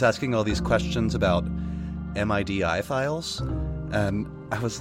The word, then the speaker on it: MIDI: stuff gif JPEG MIDI you always pronounce it as a word not as a like an acronym you know or most